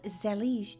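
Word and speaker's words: zellige: these tiles are called zelig tiles pronounced like Prestige and they are handmade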